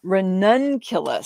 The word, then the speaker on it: ranunculus: the stamps but it is pronounced uh ranunculus so you you uh put the um put the emphasis on the word none there and then cue less so in case you're